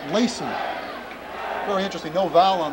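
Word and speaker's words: Lacz: He spells his name L-A-C-Z, but it's pronounced Lacey.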